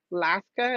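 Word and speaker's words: laksa: forgot to ask what what is Alaska laska is how you say it Las laska L I'm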